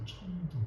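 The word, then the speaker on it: 成都: 성도를 중국어로 하면 청두입니다. 파란머리 어 파란머리 청두 발음만 성도의 발음이 청두 저희는 아으로 브라질 치즈빵 만들어 먹으려고요.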